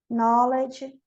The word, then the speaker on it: Knowledge: K is always silent in the word initial spelling sequence. K-N. Não, sempre na KN, o N não é pronunciado como Neil, Ni, Nob, Night, Nave, Knowledge, Knife, Knock.